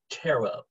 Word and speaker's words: Ptero: basically shorten that and we call him tarot that's much easier terrible much easier it's spelled the p and the reason is